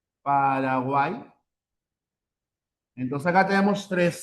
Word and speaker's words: Paraguay: Y en este caso la y cuando ven la parte final, recuerda, se cuenta como una vocal.